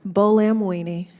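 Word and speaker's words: Buolamwini: Bolamwini.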